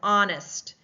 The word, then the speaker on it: honest: The same with honest, we do not hear the H sound.